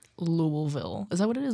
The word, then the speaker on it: Louisville: or louville okay so I used to say Louisville however um my boyfriend's sister just went there over like a summer ago or something and she's very insistent on the correct pronunciation so I have to get it right louville is that what